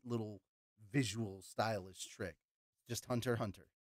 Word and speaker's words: Hunter x Hunter: __ ] it's just Hunter Hunter sorry to break your bubble the X is not actually pronounced it's not the letter X it's just kind of